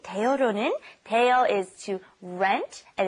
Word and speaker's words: 대여료: It's kind of hard to pronounce because your tongue's kind of moving around in your mouth. It's 입장료 and then 대여료.